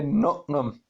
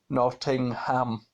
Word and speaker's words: Nottingham: say to be nobody it's got three syllables not to cuz I say not them but it's actually Nottingham but yes I'm sure